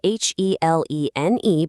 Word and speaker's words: Helene: Now, that's spelled Helene, but it's pronounced Helene.